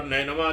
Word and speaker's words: نینوا: تصریح کی بنا پر نینوا، جس کا صحیح تلفظ بکسر نون ہے، اس کا رقبہ 3